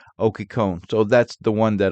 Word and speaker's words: Occhicone: The name is originally Italian, and people with that last name in Italy mostly pronounce it as Occhicone. But it seems when they came to America, it was changed to Occhicone.